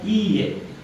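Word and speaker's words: いいえ: Nah, bukan itu bahasa Jepangnya iye. I-nya 2 ya.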